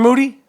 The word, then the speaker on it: Moody: I'm here with Moody, whose last name rhymes with duty.